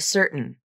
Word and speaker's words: certain: like button forgotten and certain here the rule is if t comes between vowels and the t is unstressed and the end of